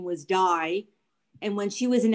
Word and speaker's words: Dye: the bus driver okay that's how they pronounce his name die they and i were